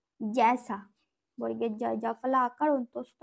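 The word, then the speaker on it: जैसा: যেমন মে হ্যাঁ ক্যাসা জ্যাসা, জ্যাসাটাও হয়, যেমন কি বর্গের জয় ঐকার দন্তস্বয় আকার, তাহলে কি হবে এটা জ্যাসা, বর্গের জয় জাফলা আকার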